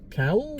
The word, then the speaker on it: Cowell: Cowell? Cowell, yeah. Not Simon Cowell, but it's spelt the same.